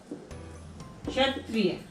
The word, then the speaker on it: क्षत्रिय: क्षत्रिय। इसमें छोटी ई की साउंड आ रही है, क्षत्रिय।